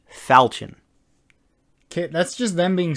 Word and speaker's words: falchion: i saw them make the i know it's pronounced falchion but i refuse to pronounce it that way i say falcon because i just don't like the pronunciation of